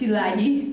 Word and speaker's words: Szilagyi: names there is mine it's pronounced silagi this is my last